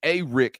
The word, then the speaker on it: Arik: Like Earls with an S, Searles, just like it's Arik Gilbert, like he's, as his mom told me, one of the Ricks.